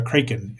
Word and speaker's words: Kraken: Not everything is a Kraken, or a Kraken, if you want the real pronunciation.